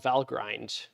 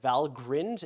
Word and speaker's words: Valgrind: There's a program that's installed on Aviary that's called Valgrind or Valgrind. I don't know how to pronounce this. I'm going to call it Valgrind and not Valgrind, but you can call it whatever you want.